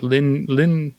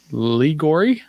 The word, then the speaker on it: Liori: as Vanessa lingor uh Lin Lin h no I keep saying an n in there it's liori yeah um and then we